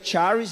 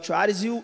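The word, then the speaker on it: χάρις: A palavra graça seria char, né? A pronúncia provavelmente não é essa. O Rodrigo, que é o perito do grego aqui da nossa igreja, é o Charis.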